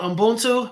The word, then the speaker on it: Ubuntu: And Derek, last thing before we let you go, talk about Ubuntu.